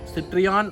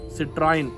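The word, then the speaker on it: Citroën: the citroen yes and many people used to call this suv as citrion citroin but i am going to pronounce this as citroen yes and in case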